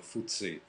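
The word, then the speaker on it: FTSE: buzzi buzzi fts praticamente loro lo pronunciano fuse in inghilterra che per la stessa pronuncia con cui si comincia piedino praticamente e sta per financial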